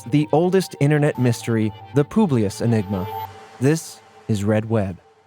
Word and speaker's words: Publius: Publius Publius Enigma the Publius it's Latin some people say Publius because that's kind of how it's spelled p u b Richard